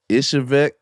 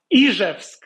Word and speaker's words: Izhevsk: Correct me if I'm wrong, because I don't want to pronounce it wrong. Ishevek? The Russian city where I was born. Izhevsk. Izhev, Russia. Izhevsk. Yeah, but that's the only